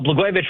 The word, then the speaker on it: Blagojevich: Well, Blagojevich rhymes with Catsimatidis, and in California, I believe they're stealing votes.